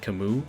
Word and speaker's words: Camus: This is Camus all over again. I do not say Camus, I say Camus. I've always said it like that way.